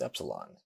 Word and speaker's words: epsilon: This is epsilon. It is always a short vowel and is pronounced like the E in bet.